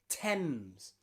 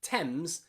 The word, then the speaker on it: Thames: Not including those 7 sounds, we can also very rarely pronounce the A as an in words like any and many and the river in London, the river Thames.